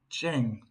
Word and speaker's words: Zheng: Chen Cheng, that's how you pronounce it.